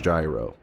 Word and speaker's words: gyro: Pronounced the same way as gyroscope. It look it up. Look it up. Americans. It says the American pronunciation is gyro.